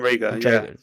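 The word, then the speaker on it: Reagor: Rager, I think it's pronounced. Yeah, Jaden Rager. Jaden Rager.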